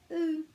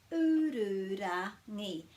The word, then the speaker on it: Ururangi: U-ru-ra-ngi. So I've already given you the breaks after every vowel. There's a little bit of r going on, so it's a good practice for the r sound. U-ru-ra-ngi.